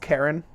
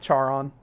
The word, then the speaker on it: Charon: I guess is you guys gonna laugh it's pronounced Karen I know it looks like char on and that's how I pronounced it before but